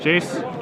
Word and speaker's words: Jace: Oh timely I believe some comments in the feed say that they believe it's pronounced Jace Tom willing to believe